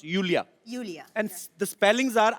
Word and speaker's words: Iulia: pronounce Yulia. Yulia. And the spellings are IULIA. LIA. So I Thank क्यों God मतलब? you know. I mean, why I? God. Everyone is calling me Lulia.